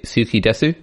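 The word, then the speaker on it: 好きです: got skidas ski i think i should say suki desu yeah i think that that's uh the authentic pronunciation yeah suki desu sushi garzuki desu um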